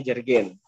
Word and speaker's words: jerigen: itu gimana ya Eh jergen berarti ya diucapkannya jerigen Eh kalau di rumah saya